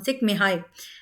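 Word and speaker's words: Csikszentmihalyi: बॉक्स में डाल दूँगी क्योंकि जिस तरीके से इनके नाम को स्पेल किया जाता है, उस तरीके से प्रोनाउंस नहीं किया जाता। तो इनकी प्रोनाउंसिएशन डिफरेंट होती है।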